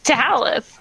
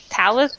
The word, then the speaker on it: Zalyth: It's Zalyth. Zalyth. Zalyth. Talith or Zalyth? Zalyth. You don't know either. Z-A-L... No, I've been pronouncing it wrong. I know there's a Z in it. Z-A-L-Y-T-H, guys. Zalyth.